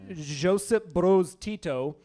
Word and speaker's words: Josip Broz Tito: Yugoslavian President Josip Broz Tito That's how you say it.